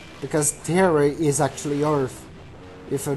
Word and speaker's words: Terra: time that Xehanort get Terra, yeah, I say Terra. Terra is how you pronounce that on Portuguese, by the way. That is a Portuguese word that's mean earth, so that's the why haters do that kind of joke.